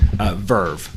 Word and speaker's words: VRV: s vaud aggregated service Verve which is spelled vrv so I get to